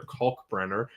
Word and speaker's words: Kalkbrenner: U but uh anyways, uh Kulk Brener with a you know, really got to pronounce that L in there. Kulk Brener uh is a January 17th, 2002 birthday.